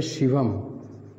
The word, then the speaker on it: शिवम: तरह यह गौर करिए जैसे एक शब्द है शिवम शिवम देखो यह तत्सम शब्द है शिवम अब इसके अंत में अनुस्वार लगा है तो इसका उच्चारण जब आप तोड़ेंगे तो इसका उच्चारण में होगा माने शिवा एम जैसे एवं है एवं